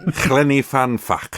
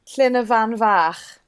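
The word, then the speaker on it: Llyn y Fan Fach: How should it be pronounced? Llyn van Fach. Oh, the f is a v.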